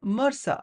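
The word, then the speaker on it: MRSA: is that of MSA which is often times pronounced as Mera so MSA stands for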